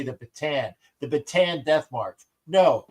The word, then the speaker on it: Bataan: In Tagalog, when you see the two A's, you pronounce each vowel correctly or each vowel individually because it really pisses me off whenever I hear people call it the USS Batan.